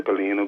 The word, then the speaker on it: Galena: That's the Galena group of companies.